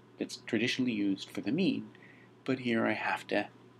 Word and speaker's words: mu: left you see the Greek letter me it's pronounced me uh it it is the Greek ancestor of